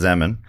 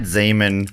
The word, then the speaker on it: Zeman: So, still with Zeman. It could be Zeman. Because it is spelled like semen with a Z.